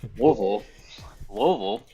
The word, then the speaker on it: Louisville: It's Louisville, and so born there.